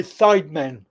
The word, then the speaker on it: Sidemen: sdmn are you ready literally it's initials sdmn and apparently sidemen that's what it's called but they they spell